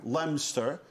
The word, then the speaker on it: Leominster: um we we've we've had this connection with Leominster Leominster is that how they say it they say it lemster like in Pennsylvania they say Lancaster yeah Lancaster